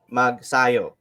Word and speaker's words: Magsayo: are actually pronouncing his name and his last name wrong it's it's ma it's mark mag sayo so that's how they say it uh yeah